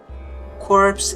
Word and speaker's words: corpse: Corpse is a tricky word in English because it's bored from French. We pronounce it the same as core.